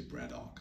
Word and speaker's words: Braddock: code of Braddock uh the locals the locals say Braddock yes uh um the